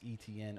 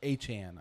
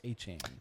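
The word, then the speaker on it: Etienne: number one, they went and signed Travis ETN or Achan, I should say. Travis Achan. Yeah, that is how we pronounce it.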